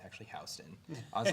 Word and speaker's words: Houston: in new york there's is it houston street but you have houston excuse me and then houston exact same way yeah i was saying